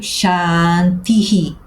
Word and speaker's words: shanti: Por isso eu escrevo chan ti e agora um h com pontinho e eu leio shanti.